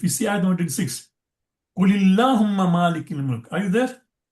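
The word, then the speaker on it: قُلِ اللَّهُمَّ: So because the first alif, of course, is a silent, then comes lam sakin, because of shadda, kulillahumma. So because it is difficult to pronounce two lam, Kul has become Kuli.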